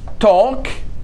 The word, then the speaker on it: talk: لا don't talk. لاحظ L لا تلفظ، إذا كان عندنا L بعد K ال silent لا تلفظ.